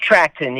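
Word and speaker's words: Trachten: later joined by doug i hope i can pronounce his name right trackton it's trackton yeah actually you gotta go back a little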